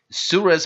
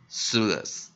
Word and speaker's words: Suillus: 那我们今天要介绍的这个单字，它是个学名 Suillus Pungens Suillus Pungens Suillus Pungens，或者如果也有人念 Suillus Suillus PungensSuillus Pungens，那当然我们这个字由于它是学名我们按定拉丁文直翻过来的话没有拉丁直接念的话，念 Suillus Suillus Suillus 这样子来念所以这个念起来蛮特别的Suillus。那如果我们用自然发音 Phonics 这个大部分人会这样念的话，他就会念 S-U-R-L Interpon L-U-S。